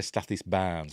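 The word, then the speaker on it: Stathis Borans: Sounds like they say Stathis Barnes when they're saying it, but it's spelt Borons.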